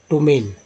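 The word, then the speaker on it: ptomaine: पी के बाद टी आया तो पी को साइलेंट किया गया, फिर पढ़ा गया टोमेन।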